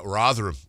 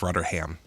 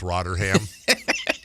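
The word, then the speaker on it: Rotherham: By the way, uh Hunter Shield Town hosts uh Rotheram in the Veru Trophy. Actually pronounced Roderham. Oh, it's Roderham coming up in a couple of weeks.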